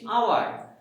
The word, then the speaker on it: hour: ঠিক তেমনি এরকম ভাবে যদি বলি আমরা HOUR, আমরা কিন্তু ও থেকে উচ্চারণ করতেছি, এটা হাওয়ার বলছি না, বলছি আওয়ার, নট হাওয়ার, এটা আওয়ার বলছি, অতএব ও থেকে উচ্চারণ